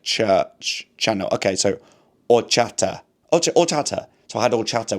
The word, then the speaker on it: horchata: Ah, the first H is silent. Okay, or chata. The s c h is pronounced as in English like church, channel. Okay, so horchata.